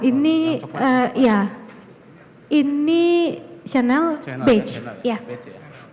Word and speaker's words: Chanel: Bacanya Chanel. Bahasa Ya, ini dari Prancis.